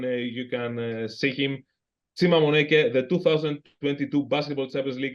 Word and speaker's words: Moneke: It's not Monica. It's Chima Moneke.